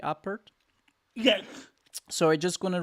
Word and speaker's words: Apert: I'm pronouncing it correctly, Apert.